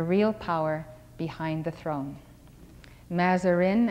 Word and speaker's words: Mazarin: Mazarin, as it is pronounced in English.